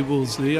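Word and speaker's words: Wolseley: neither is acceptable but how do you say it well most people say woolsey i tend to call it woolsey and which is it's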